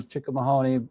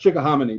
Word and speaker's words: Chickahominy: Where we are is pushing, east of Richmond, coming over the Chickahominy up here by I think it's pronounced Chickahominy, by the way. Chickahominy, sorry.